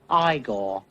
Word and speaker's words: Igor: No, it's pronounced Igor. But they told me it was Igor.